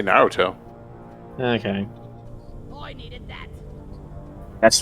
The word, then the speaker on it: Naruto: Well, in the anime they say Naruto.